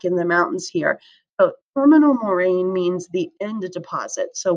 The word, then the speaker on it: terminal moraine: a couple years ago i had a student pronounce this that is not how you say it terminal moraine terminal moraine so moraines are deposits by glaciers and here's